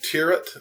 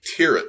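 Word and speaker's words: Thieriot: as to what, because his name is spelled like TH, but I think it's JP Tirrett is the way you say his last name.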